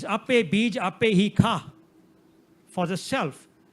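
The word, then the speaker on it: ਖਾਹੁ: It's ape bij, ape hi kha. For the self. The ha there has an onkard. That's a grammatical onkard. It's not for pronouncing purposes.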